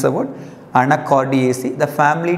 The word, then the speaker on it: Anacardiaceae: The family name, pronounce the word, Anacardiaceae.